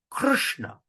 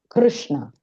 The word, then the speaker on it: Krishna: Put your tongue at the rushna. So rushna. So rna. Soishrishna. Krishna. Okay. Try. Anybody want to try? Krishna. Krishna.